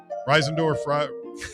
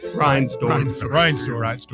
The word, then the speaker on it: Reinsdorf: I can never say his name right. Reisendorf. Reinsdorf.